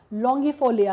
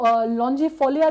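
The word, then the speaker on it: longifolia: और 10th जो है वो नोलिना लॉन्गिफोलिया है। इसको लॉन्जिफोलिया भी बोलते हैं।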